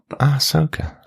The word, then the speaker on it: Ahsoka: Ahsoka.